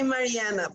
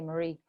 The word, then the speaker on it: Mariana: I would say Mariana because that's in Spanish. Mariana, yeah, but I honestly generally just say Marie.